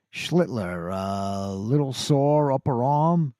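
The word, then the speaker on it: Schlittler: Schler. Schlitler. Schlitler. I got to put that L in there.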